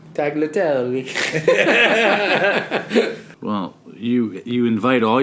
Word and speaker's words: tagliatelle: a type of pasta aglet tell i'm sure you're mispronouncing it tagliatelle well you you invite